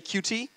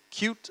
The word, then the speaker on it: Qt: cute company by definition i think majority decides how you pronounce something 90 of our users and our customers and they say qt but it's always really been cute and that's what they wanted that's what we intended when we started and